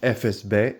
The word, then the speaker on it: FSB: Now, this band is pronounced FSB, in my opinion, but somebody is gonna say Fussable. But if you say Fussable, you're retard. It's FSB. Yeah, Bulgarian band.